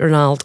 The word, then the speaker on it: Ronald: signing um and apparently that's how you say it Ronald not Ronald okay apparently that's what I heard like Ronaldo but without the O um he looked good